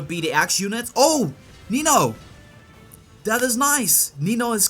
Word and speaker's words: Nino: or I don't know some people have different words pronunciations Nino noo noo it's Nino okay going on to